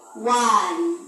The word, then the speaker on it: one: Oke, itu bukan on bacanya nak ya, tapi one.